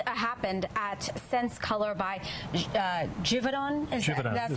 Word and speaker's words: Givaudan: So this happened at Sense Color by Givaudan. That's how the mayor pronounced it.